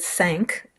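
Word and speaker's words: cinq: him score more there somebody suggested sank which is how it's pronounced I know somebody asked yesterday uh somebody not French sank is how you pronounce it but I'm not sure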